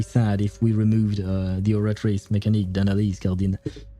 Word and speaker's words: oratrice mécanique d'analyse cardinale: I should pronounce it with the actual French accent. Oratrice mécanique d'analyse cardinale. But I'm so used to hearing it with the English accent when they pronounce it.